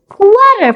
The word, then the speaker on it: quarter: Quarter past. The spelling is quarter past, but we say quarter. Quarter. The R is silent.